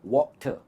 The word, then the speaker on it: water: R silent है इसमें। इसकी pronunciation है water.